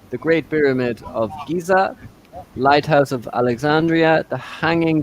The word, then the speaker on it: Giza: And I Okay, think the so guys, pronunciation is Giza, Great Pyramid of Giza.